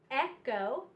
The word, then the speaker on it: echo: have ache ache schoolhouse Schoolhouse Christ scheme scheme Echo EK Echo and Chrome all of these are the CH special sound but it's pronounced with just the C Sound and the